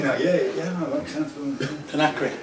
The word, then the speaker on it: Conakry: Oh, Conakry. Right, I'm with you now. Yeah, that makes sense. Conakry.